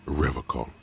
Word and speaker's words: Revachol: Revachol. His gaze shifts to the pile of soggy logs at his feet. He pronounces Revocol with a hard K, unlike other people.